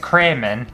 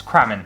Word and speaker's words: Crammen: it's and then i used to get cream in and it's not cream and it's cramming so it's cramen and just a little